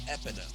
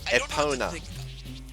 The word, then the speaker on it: Epona: Like I don't know what to think about Epida because he was riding a horse. Most likely Epida Epona.